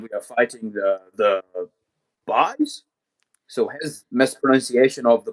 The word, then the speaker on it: Bais: No, it's just it's just it's just the boys but pronounced differently.